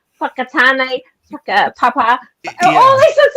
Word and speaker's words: Whakatane: In New Zealand, we have words like names of places like Whakatane, Whakapapa. All these things like it's WHAKA, and it's pronounced Whaka.